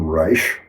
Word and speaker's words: Reich: Wilhelm Reich, Rei C, proper pronunciation, Reich.